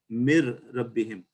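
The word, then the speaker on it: مِنْ رَبِّهِمْ: a qaida like this, we have to put the R with the shadda or the ra, and then the noon is not pronounced, and we say mir rabbihim.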